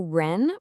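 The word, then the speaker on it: 仁: Okay, so ren pronounced just like the word run is a huge deal in confusionism.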